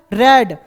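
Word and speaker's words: read: form क्या होता है रेड थर्ड फॉर्म भी क्या होता है रेड स्पेलिंग सेम होती है लेकिन हम पढ़ते उसको क्या है रेड तो ही हैज नॉट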